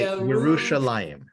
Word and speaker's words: Yerushalayim: If you pronounce Jerusalem correctly in the original language, right. you say Yerushalayim.